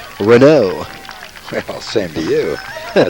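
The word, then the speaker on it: Renaud: I didn't have a chance to tell you the pronunciation of his mic name before the game. Mike, it's Renault.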